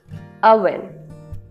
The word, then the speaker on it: oven: No, it's oven. Oven. Pre heat the oven first. ओ को यहां पे हम आ प्रोनाउंस करेंगे.